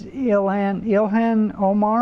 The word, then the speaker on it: Ilhan Omar: All right, so Representative, oh God, how do you pronounce her name, John? I think it's Ilhan Omar.